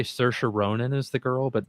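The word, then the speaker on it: Saoirse: Yeah, Cersa Ronin. It's spelled completely different than the way you pronounce it, but the way she I've heard her pronounce it is Cersa.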